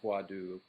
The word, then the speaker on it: hwadu: some schools use swatu or huadu as it's pronounced a little bit more in Korean exclusively and some do